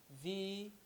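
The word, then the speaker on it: wie: is the Kaizen z v - z v - z v Kaizen Z let's take it together v of course you know from the alphabet that W is pronounced as V right Kaizen is the verb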